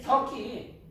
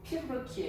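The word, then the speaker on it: 튀르키예: 트르키 터키 터키 터키가 트르키예요. 아 원 발음으로는 우리나라는 터키로 알려잖아요. 원 바르름으로는 티르키에 이게 되 시리아도 티르키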